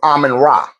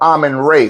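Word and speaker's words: Amun-Ra: I'm really Mary's son, my the beloved son of Aman Rah or Aman Ray, which is the appropriate way to say his name.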